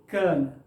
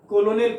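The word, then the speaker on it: colonel: कर्नल, कर्नल, ठीक ना, जिसको आप लोग कर्नल कहते हैं, कर्नल नहीं। देखिए, कर्नल, कर्नल, कर्नल, इस तरीके से। ये भी कोई नहीं समझ कहेगा कोलोनियल पढ़ेगा, ये कोलोनियल नहीं होता है, उच्चारण के ये है।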